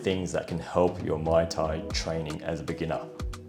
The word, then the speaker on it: Muay Thai: Here are 3 underrated things that can help your Muay Thai training as a beginner. Didn't say it right again. Muay Thai.